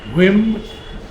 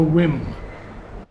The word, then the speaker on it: whim: Now, in this poem, he speaks of something that is not thy whim. Now, would you say whim or whim? Whim. I would pronounce the H.